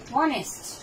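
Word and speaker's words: honest: যেমন দেখেন অনেস্ট, এর এইটা উচ্চারণ হয় না, কার উচ্চারণ হচ্ছে? ওর।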